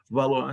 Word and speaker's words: Valois: família valor a sobre o território francês que valor se escreve Valois que E aí vamos a transição